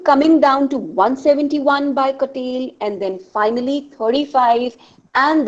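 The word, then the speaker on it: Cattell: foreign we have curtail it's not called as cattle is the pronunciation because c a double t e double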